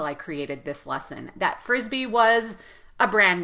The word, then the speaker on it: frisbee: created this lesson that frisbee was a brand name but it is when you pronounce it put a lot of emphasis on the first syllable and drag the vowel at the end so not uh the